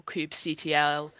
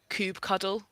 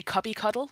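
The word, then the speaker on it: kubectl: auto scaling um and nobody knows how to pronounce the CLI control tool for it you've got control Cube CTL Cube cuddle I've heard as well I've had somebody say cubby cuddle once which I didn't like very much Cooper cuddle yeah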